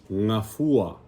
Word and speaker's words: Gafua: And remember, the way to pronounce, right, is always the pure vowels, right? Ngafua. Like, even if you need to go slow, ngafua, ngafua, and then you can put it together fast, right? Ngafua. And remember, the second to the last syllable is the one you want to emphasize, ngafua.